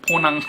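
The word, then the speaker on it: Ponant: 포항 크루즈입니다 포 크즈 프랑스 말이라 좀 어려운데 포낭 정확한 발음이 이라기보다는 포낭 이라고밖에 발음할 수가 없습니다네네 그렇게 해서 부산항에서 또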